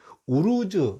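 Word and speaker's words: Uruz: 뜻이 되고요 그다음에는 이제 이것은 이제 우르즈 발음이 우르즈요 우루즈하 부립니다이 이름이 이제 우르즈 그래요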